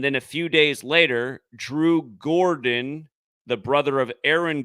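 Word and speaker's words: Jrue: Walton and also Al like Drew Gordon uh Drew holiday spells his name jru e and so his name should be jreu but it's pronounced Drew like d w but remember who died Bill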